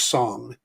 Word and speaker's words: Song: been saying it wrong i've been saying this detective sing it's actually detective song and detective song uh the queen inside